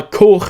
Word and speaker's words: Koch: So I watched this on Blu-ray, and this particular Blu-ray was released exclusively in Germany by Koch Media, K-O-C-H. I actually verified with my German neighbour that it is pronounced that way.